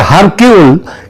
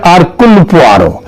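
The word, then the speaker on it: Hercule: এখানে তদন্ত চলবে আগাতা কৃষ্টির যে গয়েন্দা আরকুল পোয়ার তার তত অনুযায়ী আতাস এবং তার গয়েন্দা আরকয়ার এটা যদিও উচ্চার উচ্চারণে এটা হয় হার কিন্তু একচুয়ালি উচ্চারণটা হচ্ছে আরকুলার তিনি যদি বেচে থাকতেন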